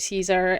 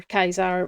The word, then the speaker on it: Caesar: We need to talk about Caesar um or Kaisar, whichever pronunciation you prefer to use.